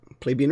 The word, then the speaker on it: Plebeian: Plebeian. Plebby and. Plebeian. That's how you say it.